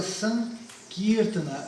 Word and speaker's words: Sankirtana: Na verdade, olha só, a palavra é Sankirtana, e a sílaba forte é o Ki, tá?